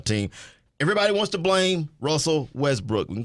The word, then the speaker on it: Russell: I kind of like how you mispronounce his name, Wussel. Russell. Russell.